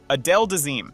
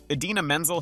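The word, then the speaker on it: Idina Menzel: now Infamous name mixup the teleprompter said Adele deim he said using the phonetic spelling of Menzel's name as written on the teleprompter which threw him off and resulted in the memorable mispronunciation Adena menel has taken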